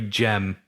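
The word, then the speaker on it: Cem: you did so cause it looks like gem it's c-e-m yeah and they were like it's a j yeah but he had the a so we're sorry jem we said your name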